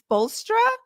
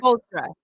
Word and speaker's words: Spoelstra: Spoelstra. Correct. There you go. Whoa. The first time was right. Spoelstra. Erik Spoelstra.